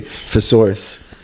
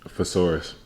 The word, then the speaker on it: thesaurus: the the sound feature say furus thesaurus thesaurus it's th all right see I was right I'm like he's saying it wrong all right Tabitha you're right you're right all right let's go let's go let's go let's go I told you lock thesaurus like it was a dinosaur thorus whatever lock thesaurus